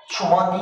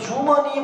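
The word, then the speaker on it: 주머니: भनेको प्राय है छाजु छुमनी ल हेर्नु त चुमनि अब यो जुमनी भन्ने चै जुमनी जुमनी भन्ने हुदैन अब यसलाई चाहिँ के गर्नु पर्यो छुमनी छुमनी भनेको पकेट है यसरी उच्चारण गर्नु।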